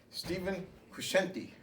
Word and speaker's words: Stephen Crescenti: Stephen Crescenti.